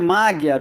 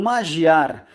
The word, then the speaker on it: Magyar: o do seu opositor, Péter Magyar ou Magyar. Me digam vocês qual é a pronúncia em húngaro. Péter Magyar.